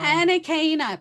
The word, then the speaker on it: Anakana: Hello, is it Anakana? I think I've been saying it wrong. Anakana, but you can just say AK if it's too much, just say AK.